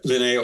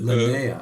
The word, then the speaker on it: Linnea: Is it Linnea? Yeah, Linnea Olsen. Linnea. Okay.